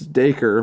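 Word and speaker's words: Dacre: I was trying to figure out how to pronounce his first name it's it's daker but man I I was like that's freaking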